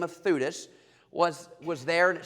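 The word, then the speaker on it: Theudas: That's why I call him Thudus. It's easy to remember. Thudas and Judas.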